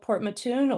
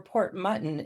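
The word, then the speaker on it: Port Mouton: I'm in a tiny little community on the southshore of Nova Scotia called Port Matun or Port Mutton if you're reading it the way it's writt way it's spelled out.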